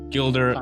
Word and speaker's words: Gildre: It's Gildre, right? Correct. Yep. Gildre, it rhymes with builder.